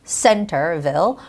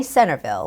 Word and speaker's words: Centerville: this it's more like the stress goes on the first syllable Center Centerville or you could say Centreville with a soft T sound now when you are